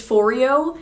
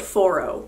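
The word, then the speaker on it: Foreo: i thought it was fourio but with this device you use their app and they call it foro so we're going to call it furrow because i'm assuming their own app knows how to pronounce their own brand name so this is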